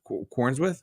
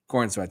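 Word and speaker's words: Corenswet: Was it Kornswith? What? I'm butchering it again. I'm sorry, Justin. How do you say it? Corinat.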